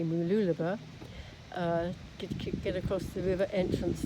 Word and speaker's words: Mooloolaba: It's supposed to be very pleasant, but it looks now as though in order to get to Mooloolaba, let's say it correctly, Mooloolaba, get across the river entrance there, I've got